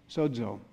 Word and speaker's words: sozo: on one word in the bible the word sozo it's spelled esso zeo that is pronounced like suds sozo and in the new testament in the greek